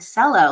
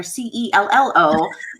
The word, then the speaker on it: cello: I was like, So then I was like, I don't know why people spell this word cello, like S or CELLO, like, because I was spelling it cello, like CHELLO, like how you say it.